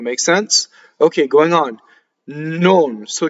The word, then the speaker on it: non: Nnon. So K is a strong monosyllable. Notice that there's a double N. Nnon, right? Very little.